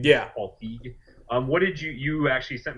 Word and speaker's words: Feig: Is that Paul Feig? Is that how you say his name? Yeah, Paul Feig.